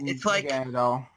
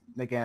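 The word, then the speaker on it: Naganadel: think it's weird how Naginadel is essentially... That's how I pronounce it. Like, I think Nadel's supposed to be like needle. I'm sure it is. I probably pronounce it wrong. It's officially pronounced Naginadel.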